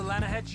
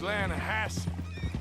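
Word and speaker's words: Lannahechee: the other day I rolled down to the Lana Hetchy river I caught some beautiful steelhead trout you mean the Lana no Lana hatch it runs right near here yeah but it's pronounced Lana Hass why is everything in English said differently than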